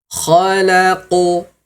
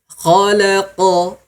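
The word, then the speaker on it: خلق: Misalnya di kalimat ini ya, khalaqo khalaqo. Maka ini salah ya, Bunda. Khalaqo. Nah, ini salah. Gimana cara pengucapan yang benar? Yaitu jangan dimonyongkan bibirnya ya. Bibirnya jangan dimonyongkan. Contoh misalnya khalaqo, biasa saja khalaqo tayib. Nah, seperti itu. Nah, Ayah Bunda, jadi cara pengucapan huruf qof tadi jangan sampai mulut kita ikut monyong.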